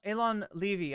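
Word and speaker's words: Eylon Levy: Nation with Elon Levy sorry Elon Levy I believe is how he pronounced it um we've got uh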